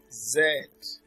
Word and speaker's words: Z: letter Zed the letter Zed okay I know we are used to this letter Z okay this letter Zed it is pronounced Zed in British English but it's pronounced Z in American English okay we have numerous